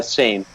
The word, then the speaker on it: SIAM: Is it siam? Uh same like same.